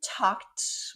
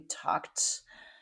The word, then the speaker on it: talked: We talked with a t sound at the end. We talked during lunch.